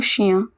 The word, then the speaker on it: chien: Et regardez le beau chien. Do you remember I-E-N is pronounced as ia, as we saw in bien. So chien, it means dog.